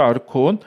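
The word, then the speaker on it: ἄρχων: 고린도전서 2장 8절에서는이 세상의 통치자들 아르콘이라고 읽어야죠. 아르콘 그러니까이 세상의 통치자들이잖아요.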